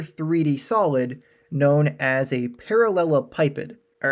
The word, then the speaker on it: parallelepiped: solid known as a parallel pipid all right and you might hear it pronounced other ways you might hear parallel PID doesn't really matter as long as you